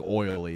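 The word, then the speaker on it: Oley: e y Pennsylvania but it's not pronounced Olay it's like oily is how they pronounce oily pennsylv don't go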